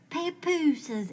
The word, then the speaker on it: papooses: Papooses, is that how you say it? I always thought the plural was papoose. No, it's papooses.